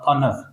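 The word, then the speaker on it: honour: तो पहला जो वर्ड आ जाएगा वो हो जाएगा ऑनर, ऑनर, तो ऑनर में एच साइलेंट होता है, इसे हॉनर नहीं पढ़ते, क्या होता है ये?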